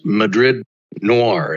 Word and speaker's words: Madrid Noir: vr excellent yeah and that's madrid noir is how you say it right yes yes so in madrid noir